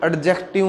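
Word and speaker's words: adjective: परंतु ये एडजेक्टिव नहीं है, ये एडजेक्टिव है। इसमें जो ये डी है साइलेंट है, इसको हम एडजेक्टिव बोलते हैं।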